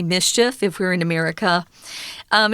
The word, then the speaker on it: MSCHF: mschf or in english we would actually just pronounce it mischief because it kind of makes that sound if you say those letters together quickly but i know tom